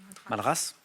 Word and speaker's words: Madras: Madras, avec un S qui se prononce effectivement.